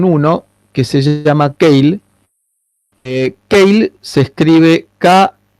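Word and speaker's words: Keil: a trabajar con uno que se llama tail kyle se escribe y l es una empresa alemana que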